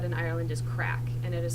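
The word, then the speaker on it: craic: A word that is typically said in Ireland is crack, and it is spelled C-R-A-I-C, and it means fun.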